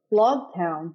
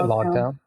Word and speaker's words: Loguetown: this whole Arc so log town is that how you say it l town I say lock toown I think it's lock toown this town you guys